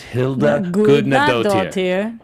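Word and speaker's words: Hildur Guðnadóttir: I'm adding 4 extra syllables. It's Hilda Gudnadottir. Hilda Gudnadottir. You have to pause between Hilda Gudnadottir. I'm trying too fast. Exactly. You got to slow it down.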